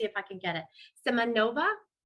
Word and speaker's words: Semyonova: Semyonova? Close. It's Semyonova.